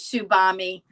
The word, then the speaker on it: Tsubame: There's also another shawl that uses Tsubami on our website. And Tsubami is spelled, Paul, can you show that to them? It's Tsubame.